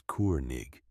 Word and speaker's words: König: In German it means king. You say it like this, König."